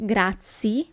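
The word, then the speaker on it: grazie: half okay thank you Gra attention here it's not gra but it's gra you really have to pronounce the last letter the letter e and the letter E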